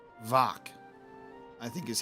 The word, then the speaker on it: Mhach: So, in Gaelic, uh mh is a v and ch as in loch, not a k sound but a throaty ch sound.